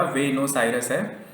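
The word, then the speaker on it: Buenos Aires: Argentina, इसकी राजधानी है वेनोस आयरस, इसका प्रोनाउंसिएशन आप याद रखिएगा, वेनोस आयरस है।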